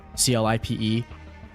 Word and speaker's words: Clipe: Yeah, and we just got confirmation too that we were talking about before, CLIPE.